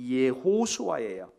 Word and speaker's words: 예호수아: 그래서 구약시대에 보면은 여러분, 이 예수라고 하는 이름, 히브리어로는 예호수아예요. 여호수아가 아니라 예호수아.